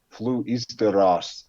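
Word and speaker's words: Fluisteraars: it's really it's it's f-l-u-i-s-t-e-r-a-a-r-s flew easter it's dutch um i mean people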